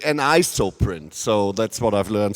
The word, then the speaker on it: Anisoprint: which is shown here it's called and I spell it correctly an ISO print so that's what I've learned so far um